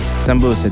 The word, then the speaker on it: sambusa: So I think I'm proud to say happy Sambusa Day. Sambusa, right? Is that how you say it? I mean, it depends on where, actually. Some people call it samosas. Yeah. Some people call it sambusa.